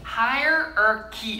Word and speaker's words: hierarchy: hierarchy 하지 말고 hierarchy 이렇게 읽을 거거든요.